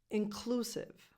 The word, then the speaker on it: inclusive: Number 6, inclusive. The stress goes on the second syllable. Inclusive, on clue, not on the first syllable, the second.